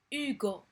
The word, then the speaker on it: Hugo: اس ما كتنطقش. دي Hugo اش ما كتنطقش.